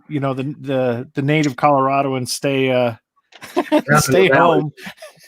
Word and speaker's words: Colorado: in Colorado man Colorado you got to say it right Blake it's Colorado Colorado because I'm Coloradan because